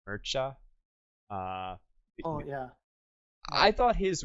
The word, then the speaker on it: Mircea: Mircea.